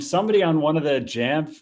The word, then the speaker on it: Jamf: And somebody on one of the Jamf like customer support message boards was making a joke. Like, that's an obviously funny joke that it would be pronounced Yamf. But Google's like, "Yeah, that's how you pronounce it."